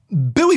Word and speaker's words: buoy: Now, I would say buoy versus boy so that maybe if there's